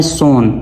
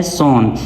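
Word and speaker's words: sewn: सोन। ये किस तरह प्रोनाउंस होता है? सोन।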